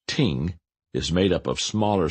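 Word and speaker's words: 听: gave tremendous insight into the concept the word pronounced Ting is made up of smaller symbols with specific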